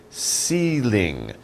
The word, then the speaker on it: ceiling: We call it a ceiling. Ceiling. Ceiling. So ceiling. It's like C, same pronunciation, different spelling.